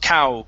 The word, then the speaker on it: couch: to this one uh the word is pronounced couch instead of coach it's ow couch couch couch MH very good uh